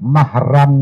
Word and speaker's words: mahram: bukan muhrim tapi mah ini dua kalimat yang sering salah diucapkan oleh orang maka yang kedua kayaknya bukan mahramnya yang dimaksudkan adalah mahram nasab bukan mahrammu Sarah